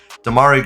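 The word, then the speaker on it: Demarai: for him and damari gray I my gosh Demari gray that's how you say his name my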